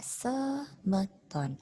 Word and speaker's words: sameton: malah dibaca e ya contoh kata samon ditulisnya sameton tapi dibacanya adalah semeton awalan di bahasa Bali